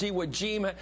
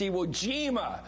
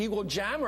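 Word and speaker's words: enigma: it's Scourge not scor it's eima as every grade school kid in America knows it's eima we've always heard it but if you've never pronounced it before and never said it before you say something like an eagle Jammer or something on here somebody a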